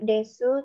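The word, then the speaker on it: です: kita pelajari Minggu lalu Jadi Desa itu bacanya bukan decu ya pingsan tapi Des Ya tapi ada beberapa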